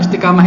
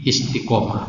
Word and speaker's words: istikamah: tapi itulah bahasa yang benar istikamah itu bahasa Indonesia yang benar tapi istikamah juga dibenarkan karena serapan dari bahasa Arab sehingga supaya masih supaya tidak jauh dari ee pembacaannya maka ditulis pakai Q istikomah bacanya artinya apa lurus